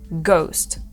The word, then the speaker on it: ghost: в слові Honor ні так само в слові Ghost і хоч вона не стоїть ця літера на початку все одно ми її не вимовляємо це слово Ghost далі літера I ця